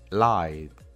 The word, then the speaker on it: lied: Otro ejemplo es lie. Como podemos ver, termina con una vibración en nuestra garganta y termina con un sonido I. Entonces, su pronunciación en pasado, si le agregamos ed al final, sería lied.